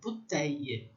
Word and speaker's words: bouteille: porque o U vai ter som de U e o I, L, L vai ter um som de I comprido, bouteille.